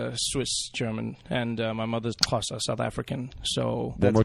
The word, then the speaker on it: Xhosa: And you got to say that every time.